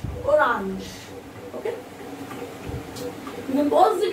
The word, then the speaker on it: orange: r a n g the same spelling of english orange but the pronunciation is different in french the same and feminine orange the pronunciation orange orange okay you can pause